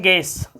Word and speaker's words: guess: गेस, GUESS बोलते हैं गेस, लिखते हैं गुएस, बोलते हैं गेस। यू साइलेंट है।